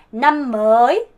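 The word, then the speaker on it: năm mới: 남머이, 남머이. 이렇게 발음되어야 돼요.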